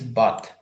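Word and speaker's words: bought: The pronunciation of this word is but. But. Es como compré, pasado de buy, el pasado de buy.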